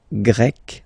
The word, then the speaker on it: Grec: So you get the country, la Grèce, and then you get Grec, masculine form, Grec, feminine form. You write them differently, but then, if you listen carefully, Grec, you pronounce them the same way, okay?